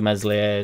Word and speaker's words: Meslier: Obviously not now, truth be told, due to the fact that there's a tier system in the Ampadu, Meslier, Silent S and Struick, but there'd be gestures every now and again where he'd be giving it or whatever.